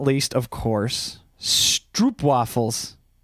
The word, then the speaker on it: stroopwafels: And last but not least, of course, stroopwafels. Pronounced the O here as pro.